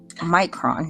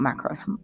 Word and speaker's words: Micron: um I do have my macron Micron not Macon I do have my